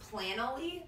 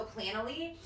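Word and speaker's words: Planoly: to talk about is I think it's pronounced plan only yeah right PLA n o ly so plan'll e and that's basically like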